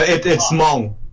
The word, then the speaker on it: Hmong: No, it's Hmong, but it's like it's HMONG, but then the H is silent, so you just pronounce it.